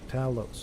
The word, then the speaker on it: Talos: One. Tal Talos. No, it's two syllables.